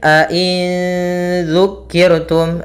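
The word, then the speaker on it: أئن ذكرتم: Yaitu cara membacanya nun suara nun, ya, nun matinya disamarkan kepada zal. A'in dzu, langsung a'in dzu.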